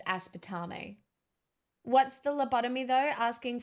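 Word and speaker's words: aspartame: I said a spider meme. That's not how you say it. It's aspetame.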